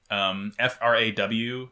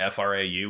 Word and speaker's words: Fraw: And the girl is named Frau Bow, Fraw, not Frau, which is how you would expect Frau to be pronounced.